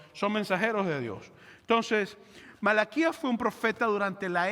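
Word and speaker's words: מלאכי: hoy me gustaría que fuéramos al libro de malaquías que es un profeta en el Antiguo Testamento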